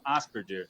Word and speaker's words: Asperger: sem problema eu pesquisei Asperger mesmo na Inglaterra eles falam asperder com J mas é o sobrenome alemão a pronúncia mesmo o resto do mundo fora é uma curiosidade